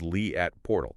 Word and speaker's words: Leat Portal: And just to ensure we are pronouncing that correctly for everyone listening, it is Lee at Portal.